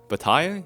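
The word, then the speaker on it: Bataille: George B French B Bai okay that makes I'm pretty sure the L I don't know what letters are okay and the E are also not pronounced probably not I don't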